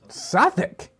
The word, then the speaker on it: Southwark: know, so maybe it's Sourk. Maybe it is like you would say a sou'wester, right? You'd take that whole south out, a sou'wester, a southwester, right? So maybe it's Sourk.